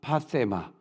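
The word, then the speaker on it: πάθημα: 그 패션을 말을 할 때 이제 우리가 이 헬라어로 보면은 파세마라고, 세타니까 혀를 또 이렇게 깨물고 발음해야 되겠죠. 파세마라 그러는데 이 고난은 내가 죄가 하나도 없는데 전적으로 남의 죄를 인하여 받는 고난, 파세마.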